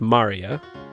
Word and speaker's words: Maria: Her name is written, of course, it's pronounced Maria.